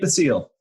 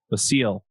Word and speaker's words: Basile: you say your last name Nick I need the seal the seal hmm and yeah do you want to just